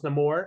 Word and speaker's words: Namor: So his name, he's Namor. Namor. Okay. It made sense to how why it's pronounced Namor in the movie without giving I, away.